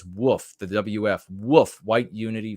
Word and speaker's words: WF: Spartan says with his financial gift of the diamond points over there at DLive, it says woof, the WF, woof, white unity first. He pronounces it WOOF.